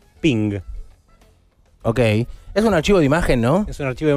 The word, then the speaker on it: PNG: llaman por teléfono además los creadores del formato de archivo png si querían que se pronunciara ping ok es un archivo